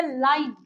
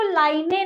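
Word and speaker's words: line: का जैसे की देखिए लाइन आई एन हम उसको लाइने नहीं बोलेंगे हम उसको लाइनी नहीं बोलेंगे हम उसको बोलेंगे लाइन न न प आके रुक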